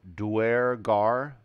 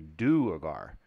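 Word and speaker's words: duergar: down in the underdark I would call them duer gar and I say they call it do orgar so mine will be dwar I'm I'm saying it wrong it's supposed to be do agar okay all right all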